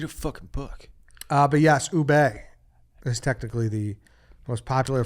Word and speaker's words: ube: Yeah, it's ubi ice cream. Ubi? Ubi? I don't know this word. I ubi. think that's it, I yeah. need Dave to pronounce this. Ube.